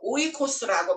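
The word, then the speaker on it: οἶκος: 하는 거는 3600 그 스트롱 넘버가 3,624번으로 돼서 오이코스라고 발음을 하더라고요 그래서 아우토스 오이코스 그런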